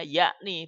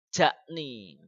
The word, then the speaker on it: jakni: membacanya adalah y ya huruf j itu bacanya adalah y sehingga di sini bacanya yakni bukan jakni iya iya dan seterusnya